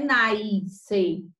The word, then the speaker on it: nascer: Não é nascer. Nós não temos nenhum I aqui. Preste atenção. Nascer. É como se a gente aqui não tivesse o C, fosse um S.